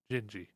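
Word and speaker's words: Dindi: by him is called jinji which is d-i-n-d-i but you pronounce that ginji and it's it sounds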